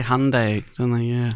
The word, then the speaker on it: Hyundai: But it's hard cuz he says Handai sort of halfway between Honda and Hyundai. So, they say Hyundai, don't they?